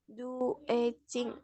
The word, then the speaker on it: graduating: Gradu, Graduating. Apa sih, Miss? ya, graduating. Jadi D-nya itu dibaca J ya.